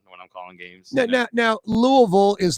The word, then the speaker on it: Louisville: Now, Louisville is Louisville, and like New Orleans is New Orleans. You don't say New Orleans. You don't say Louisville. No. It's not Louisville.